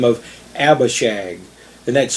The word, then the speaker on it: Abishag: young woman for david by the name of abba shag and that's spelled a-b-i-s-h-a-g abba and it means my father